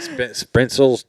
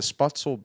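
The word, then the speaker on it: Spoetzl: Spritzels, Texas? Shiner, Texas, but it's Shiner. the Spotzel Brewery.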